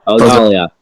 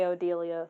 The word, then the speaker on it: Odalia: Odalia. Yeah. Odalia. I always say Odelia, but I know that's wrong.